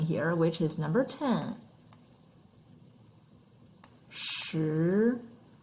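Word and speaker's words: 十: This is our second tone. Second tone, the mark goes up. Goes up. Feel the pronunciation. Ling, shi.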